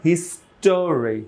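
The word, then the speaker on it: history: অংশ আলাদা মানে একসাথে ভেজিটাবো নট ভেজিটেবল তারপরে হিস্টরি হিস্টরি ওই টা থাকছে না থাকছে কি থাকছে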